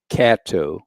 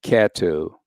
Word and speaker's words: Catto: Monday's event include among others the o v Cato c-a-t-t-o the o v Kato voter empowerment initiative another group is the Caddo